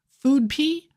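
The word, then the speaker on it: food-p: Food p pronounced foodp means are you hungry.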